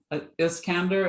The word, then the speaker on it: Iskander: it's great to see you as mean um is candor am i pronouncing it right yes it's s-i-s-k-a-n-d-e-r that's correct